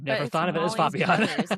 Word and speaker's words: Fabian: So I've never thought of it as Fabian, isn't it? Yeah. It's like Fabio with an N.